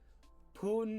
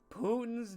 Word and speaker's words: Putin: Uh so Putin made some demands. Does his name rhyme with Tutin? Yes.